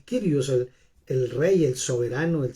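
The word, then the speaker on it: κύριος: quiere decir kairos el el curius o el curios se escribe realmente se dice el krios el rey el soberano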